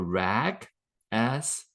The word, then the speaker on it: RAGAS: and which stands for RAG as assessment. RAG assessment. If you that, I guess maybe the right pronunciation is RAGAS, because it's a RAG assessment, right?